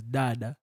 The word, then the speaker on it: Dada: So it's pronounced as Dada, Dada. Dada, Dada. Dada. You have no. You have to engage your tongue.